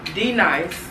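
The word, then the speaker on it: D-Nice: perspective and a mother perspective Be Nice DJ D nice I want to make sure I say his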